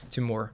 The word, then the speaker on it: Timur: The stress goes on the last syllable. Yeah, Timur.